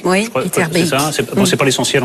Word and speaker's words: Etterbeek: D'abord, je crois que le bec belge se prononce Beek. Il faut dire Beek. Etterbeek. Oui, Etterbeek.